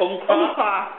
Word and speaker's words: Umpqua: Regarding Umpqua, how do you pronounce it? Umpqua.